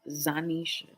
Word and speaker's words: Zanisha: And y'all better say it right. It's Zanisha. Zanisha. Zanisha. Zanisha. Zanisha. Zanisha. Zanisha. Zanisha. That's how you say my motherfucking name.